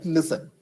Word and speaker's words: listen: okay we pronounce it listen okay the t is silent so you will have